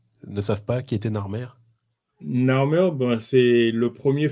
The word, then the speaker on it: Narmer: Donc, ça, normalement, si on prononce, ça va faire Nar Mourou. Nar Mourou. Okay. Ouais, donc, on prononce Narmer parce que par convention, les Européens mettent un E entre les consonnes pour vocaliser. Oui. Donc, c'est pour ça qu'on prononce Narmer.